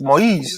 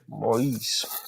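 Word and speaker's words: Moïse: That's the French. Moise. That's how you pronounce it in French. That's what he is. Moise.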